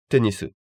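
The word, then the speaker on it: テニス: Tennis, tennisu.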